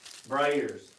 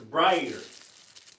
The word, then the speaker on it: brayer: Brayers. It's a brayer. Don't say it like that. It's a brayer. Stop. That's that Oklahoma twang.